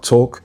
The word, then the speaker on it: talk: Ça sera talk et pas talk.